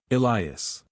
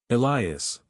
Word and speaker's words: Elias: The way she said my name with the slight emphasis on the second syllable, the long vowel, the particular rise and fall that no one else has ever duplicated. Elias, open the door.